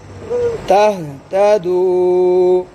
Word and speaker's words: تهتدوا: तहतदू। تهتدوا इसमें क्या साइलेंट है? इसमें भी अलिफ, ठीक। साइलेंट है।